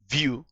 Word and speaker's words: Vue: also a migration guide what is view view pronounced view like view is a javascript framework